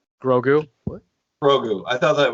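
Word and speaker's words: Grogu: what is the pronunciation of said character's name grou what grou I thought that was Yoda it's baby Yoda it's grou his name is grou child then how does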